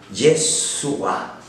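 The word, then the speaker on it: ישוע: Ya en el español decimos el Salvador, pero Jesús significa Yahvé salva, Yeshua. Bien, más o menos así se pronunciaba, ¿verdad?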